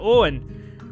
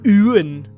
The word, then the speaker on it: Ewan: I looked at it, I was just like, is it Owen? And he just looks at me, he's like, oh, I've never heard it pronounced like that before. But I mean, that was... imagine that, but with a really obnoxious Scandi accent. I've never heard it pronounced like that before. And I'm like, well, how do you pronounce it? And he was like, it's Ewan.